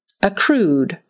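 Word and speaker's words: accrued: a t synthetic synthetic acrude acrude with the accent on the second syllable acude voyages voyages this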